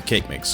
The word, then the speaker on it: Kagamix: we go back to kagamix or cake mix because that is actually how you pronounce his name cake mix according to the wiki that is yes it